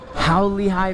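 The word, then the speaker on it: 很厉害: How Lehigh means that's impressive. But if you say it wrong, it means f your mom. So maybe I said it wrong. It's all tones in Chinese.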